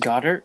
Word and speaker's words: Goedert: I think it was just Goddard, right?